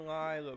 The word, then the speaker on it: Lila: It's always been Lila, bro.